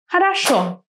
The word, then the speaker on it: хорошо: Which syllable is stressed? The last one. Хорошо.